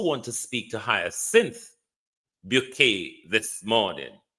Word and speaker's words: Bouquet: And we also want to speak to Hyacinth Bouquet this morning. You know, in Britain, in the natural world, it would pronounce bucket. But in the British upper echelons, it's pronounced bouquet.